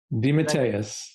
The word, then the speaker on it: DeMatteis: something simple uh your name your how to pronounce my last name you mean uh well uh detis Deus Deus okay Wikipedia has that a little off